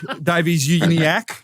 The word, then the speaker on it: Davies-Uniacke: But he's joined by Luke Davies-Uniacke. Yes. Yes, is that how I pronounce it?